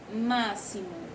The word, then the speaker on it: máximo: mente a palavra máximo quando eu pronuncio máximo logo eu imagino que mata um escrito com s porque não tem som de s né máximo mas a palavra máximo ela é escrita com x nós temos que prestar